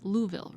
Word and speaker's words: Louisville: to be doing tonight I said it right Louisville right yeah okay that was that was perfect just like a native Kentucky hell yeah born